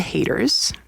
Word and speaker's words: Hayter: And when she talks about the haters, don't be a hater, see? Hater, and it's spelled Hayter.